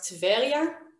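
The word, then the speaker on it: טבריה: haifa this is tiberius and tiberius we pronounce tevelia this is tel aviv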